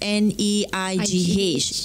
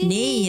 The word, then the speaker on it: neigh: So ni tu when it comes to verb, it becomes neigh. Yeah. Okay, and when we pronounce it, we somehow silence the word gh tu lah. So it becomes neigh only.